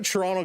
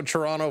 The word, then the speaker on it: Toronto: Why do I say Toronto weird? because I don't say it like a lot of the uh New York fans to say Toronto. It's Toronto. That's how Toronto folks say it.